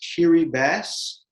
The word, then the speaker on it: Kiribati: now it is pronounced kiri bass the ti or that that t in the ti is actually pronounced like an s i still to this